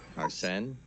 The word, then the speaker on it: Arsene: I think it's written arson with an E. Arsene? Yes. Yeah. Not arson.